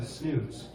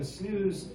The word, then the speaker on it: snus: And it's because of this switching over to the snus.